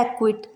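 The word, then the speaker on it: acquit: पहले सी आया है तो यहाँ पर सी साइलेंट है। क्यू के एग्जाम्पल्स हैं एक्विट, यहाँ पर क्यू से पहले सी आया तो यहाँ पर सी साइलेंट है।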